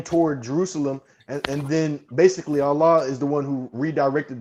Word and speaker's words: Allah: Allah would be the correct pronunciation it's the same of name.